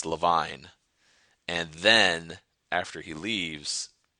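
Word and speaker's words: Levine: Jerry's like, "Oh, this is my cousin Arty Lavine." And Arty says, "Leavine."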